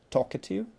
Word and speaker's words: talkative: Talkative, talkative, talkative. So, talkative. Первый слог под ударением.